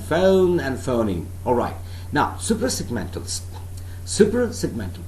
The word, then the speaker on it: suprasegmental: Alright, now suprasegmentals. Suprasegmental, please do not pronounce this word as supra. It is not supra, it's suprasegmental. Suprasegmental.